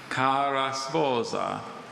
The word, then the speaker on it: cara sposa: Cara sposa.